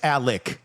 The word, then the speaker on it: Alex: But it's Alec, even though it's spelled Alex.